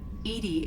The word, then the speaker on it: EDI: is a jar um your name edi is the phonetic pronunciation of edi that is an acronym for enhanced defense intelligence why are you named